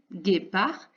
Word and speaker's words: guépard: Donc, guépard, guépard, et il y aura une lettre qui ne s'entend pas à la fin. Peut-être la connais-tu déjà, guépard.